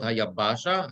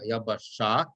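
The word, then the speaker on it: הַיַּבָּשָׁה: It's not hayabasha, hayabasha. You see where the nachta is.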